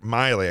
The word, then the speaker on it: Milley: Chiefs of Staff, Mark Milley. I keep saying him, calling him Mike, but it's Mike Milley is how you say it.